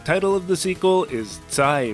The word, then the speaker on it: Zai: The title of the sequel is Zai Metajo, a Japanese approximation of the Chinese pronunciation for this kanji, which means again.